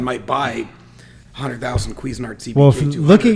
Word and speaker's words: Cuisinart: you said it right is that how you pronounce it yeah cuisinart well now that we're saying it all the